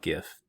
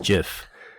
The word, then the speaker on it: GIF: sorry it's just wrong it's like jif jif is correct it's not gif gif is just wrong i know a lot of people say gif they think it sounds better it stands for graphics you